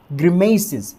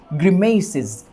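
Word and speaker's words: grimaces: तो ध्यान रखिएगा आप, ग्रिमेसिस, इस चीज़ को हम क्या प्रोनाउंस करेंगे, ग्रिमेसिस, ग्रिमेसिस, ग्रिमेसिस, इस तरह से।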